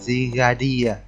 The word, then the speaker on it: Zygarde: Đấy, khả năng may mắn sẽ nhận được con Zygarde, mình đọc là Zygarde là theo tiếng Anh này.